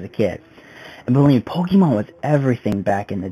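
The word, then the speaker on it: Pokémon: And just for the record, it's pronounced Pokemon, not Pokemon.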